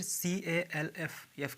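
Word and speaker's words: calf: हाफ का मतलब आधा फिर काफ के पहले एल है ठीक है तो यह भी साइलेंट होगा काफ कफ कफ का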